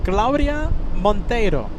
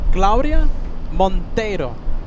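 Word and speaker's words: Claudia Montero: Claudia Monttero. That's how you say it, Kevin. Claudia Monttero. I love how you roll your Rs.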